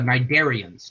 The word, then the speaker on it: cnidarians: Hydra are what we call, a word, I love this word, especially because the first letter is silent. Hydra are cnidarians.